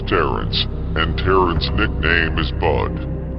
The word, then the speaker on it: Terence: of the name peace Clarence from eight mile rhymes with Terence and Terence nickname is